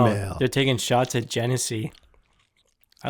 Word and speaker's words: Genesee: So Bolton Landing saying, fuck Genesee.